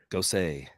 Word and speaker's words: Gosse: Gosse, Gross, Gosse, Gooey, Josie. How do you say that in French? France. It rhymes with sauce.